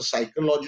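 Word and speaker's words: psychology: नहीं मानते हैं, जैसे साइकोलॉजी उसको क्वेश्चन करते हैं वो लोग कि साइकोलॉजी की स्पेलिंग पी से जबकि पी है, जब बोला ही नहीं जा रहा है, तो फिर लिखेंगे क्यों?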